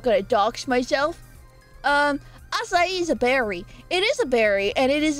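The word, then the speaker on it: açaí: along the years and the newest one is asai bols buba what is that face I love it um and yes that's how you pronounce it asai okay hold on I'm searching it up making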